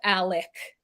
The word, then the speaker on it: Alex: The Murdaugh family, we think that, okay, Alex, his name is Alex, but he says Alec.